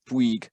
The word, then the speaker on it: Bouygues: was Peter Bates, that Bouygues is pronounced B-W-E-E-G in English, Bouygues.